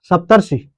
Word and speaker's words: सप्तर्षि: सप्तर्षि सप्तर्ष अर अर अर अर का उच्चारण हो रहा है ना सप्तर्षि हो रहा है। तो यहां भी क्या हो रहा है? अर का उच्चारण हो रहा है। अर का क्या हो रहा है? उच्चारण हो रहा है। आपको ध्यान याद रखने के लिए एक चीज हमेशा याद रखना। अगर मैं अर बोल रहा हूं तो वहां पर हमेशा क्या आएगी? आधा र आती है।